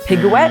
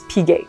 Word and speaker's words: Piguet: As a general rule, again, don't pronounce it, like you don't see it. So instead of Piguet, which is what we would say using English, it's Piguet.